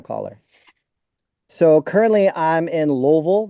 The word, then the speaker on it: Louisville: So currently I'm in louville that's how you say it in case you're wondering louville you're supposed to say it like you have rocks in the back of your throat Louisville so now you're